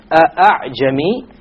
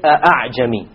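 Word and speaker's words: أعجمي: It is not a pure Hamza, and it is not a pure Alif.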